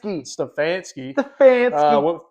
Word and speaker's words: Stefanski: Stefanski.